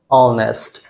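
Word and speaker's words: honest: English होता क्या है ऑनेस्ट जो इसका स्पेलिंग होता है एच लेटर से शुरू होता है लेकिन इसका प्रोनंसिएशन अ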